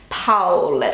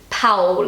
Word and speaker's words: Paul: Okay, so the second most popular baby name in Germany right now is Paul. So in Germany, they pronounce it Paul, and in English we say Paul.